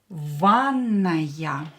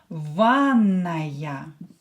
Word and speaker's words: ванная: Ванная. A bathroom. Ванная. Давайте напишем. Let's write it down with double N. Ванная. A is stressed here.